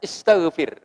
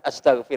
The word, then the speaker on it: istaghfir: Maka bacanya istaghfir. Ya, bukan astaghfir lahum.